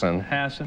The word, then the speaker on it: Hassan: Did I pronounce that right? Hassan. Everyone's been mispronouncing it.